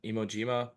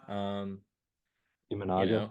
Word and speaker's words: Imanaga: I mean, yeah, they brought in Shota Imojima too, who will be interesting. Imanaga.